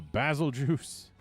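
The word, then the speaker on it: Bazelgeuse: a rajon a a basil juice that is how i'm going to pronounce it because basil yeah sure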